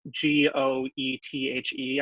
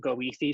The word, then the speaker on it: Goethe: started pronounced people know how Bertha's spelled it's goe th EE I think some people started pronouncing it Goethe Street rather than Goethe kind of like D